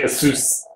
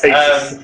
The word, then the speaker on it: Asus: I've got to admit, in comparisons to, because I'm an Asus or Asus man, my Asus, not Asus. Asus. Americans say Asus. Asus. It's Asus.